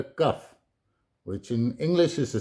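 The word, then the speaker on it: כף: Pronounced Kaf.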